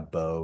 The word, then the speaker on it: Beau: So, I know on here it says Alva Baron, but uh but I go by Bo, which is spelled B Au.